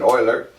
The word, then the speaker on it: Euler: Euler was, and I know it looks like Euler, but Germans would pronounce that Euler.